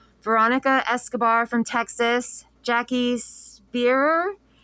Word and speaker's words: Speier: The representatives were Lois Frankel from Florida, Veronica Escobar from Texas, Jackie Speier. I could be pronouncing that wrong. It's Speier.